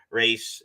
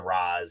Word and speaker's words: Ra's al Ghul: Ra's is the original pronunciation. I get it. I use both pronunciations, but the people, they like to throw around the Raz and the Ra's and whatever.